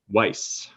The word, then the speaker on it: Weiss: Weiss.